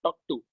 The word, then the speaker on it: TOC: is also called as talk to. So it is short form is TOC or you can also use it as TOC. So you can pronounce it as talk to.